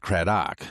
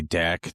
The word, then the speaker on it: Craddock: So, in in our heritage, our last name is pronounced Kraok, hence the dock. But most people when they say it will say Dak, Dak, duck, dick, everything else but Dock.